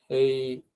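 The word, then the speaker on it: え: তো 2টা stroke order এখানে, একটা হচ্ছে এইটা স্ট্রোক অর্ডার মানে হচ্ছে এটা কিভাবে আঁকবো সেই অর্ডারটা আর কি, হ্যাঁ, এটা আমরা গত ক্লাসে বলেছিলাম।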